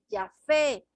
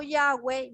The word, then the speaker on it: Yahvé: pronunciación corrupta del lenguaje, aunque la pronunciación original samaritana era Yahvé, que significa el hermoso. Por lo tanto, la pronunciación del nombre divino como Yahweh no es correcto, especialmente si se basa